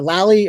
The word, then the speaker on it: Lally: named uh uh la i don't wanna mispronounce it but it's lily a lally uh i'm gonna bring him out right now